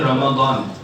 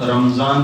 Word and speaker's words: رمضان: دیکھو رمضان جو ہے یہ اس کا جو اصل تلفظ ہے وہ ہے رمضان, میم کے اوپر زبر کے ساتھ. ہم عام طور سے جو بولتے ہیں تو ہم رمضان بولتے ہیں میم کے اوپر جزم کے ساتھ.